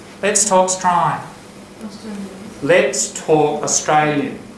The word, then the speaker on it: Strine: You've got to say it through your nose like that. Let's Talk Strine. Now, when you say it like that, what does it sound like? Let's Talk Strine.